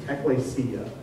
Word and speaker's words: ekklesia: It's kind of hard to do, but sound it out phonetically. It's ekklesia. It's the word ekklesia.